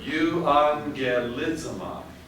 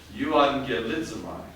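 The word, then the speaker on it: εὐαγγελίζομαι: Let's see, that was an NG sound, wasn't it? So let's see how to pronounce this word. Euangelidzamai. Euangelidzamai. I preach the gospel.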